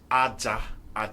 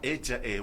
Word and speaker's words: Aja: It depends on how it's pronounced. If you say Aja, Aja means sand, while Aja would mean sacrifice.